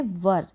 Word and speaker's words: were: वर, WERE, इसको वेयर नहीं पढ़ना है, इसको पढ़ना है वर, WERE वर, मीन्स थे।